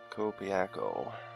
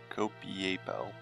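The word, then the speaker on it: Copiapó: Copiaco. Or Copiapo. There we go. Learn to read, maybe I'd be able to pronounce better.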